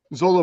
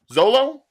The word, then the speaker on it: Xolo: Zolo Maraduena. Zolo.